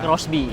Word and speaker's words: Xbee: Tulisannya sih XB tapi bacanya Crossby.